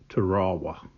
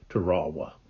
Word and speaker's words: Tarawa: of the soldiers were they referred it by saying uh teraa instead of Tera so I looked it up and online there's a website that had the pronunciation that's what they said they said uh they pronounced it uh trawa so all right um